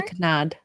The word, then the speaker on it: canard: Confit de canard. Canard. See, that to me sounds like canard. Canard. The R almost is silent.